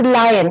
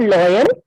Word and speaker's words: lion: या इट्स लायन, इट्स नॉट लॉयन, इट्स लायन.